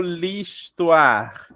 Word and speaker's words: l'histoire: Porque é o H. Tem som de I? Isso, tem som mudo. de I, né? O H muda, e a gente junta, tá?